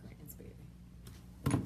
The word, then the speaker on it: Gransberry: And my last name is spelled Gransberry. I'm like the strawberry Gransberry. There you go, right there. Strawberry to Gransberry.